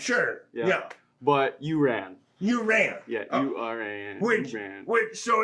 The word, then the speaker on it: Uran: Because, I haven't heard it as much these days, but it often does get mispronounced. Sure, yeah. But Uran.